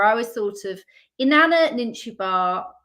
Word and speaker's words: Ninshubur: I sort of had an idea, a slight guiding principle where I was sort of Inanna, Ninshubur, as I pronounce it, you pronounce it no doubt more correctly as Ninshubur, and Ereshkigal, the three of them.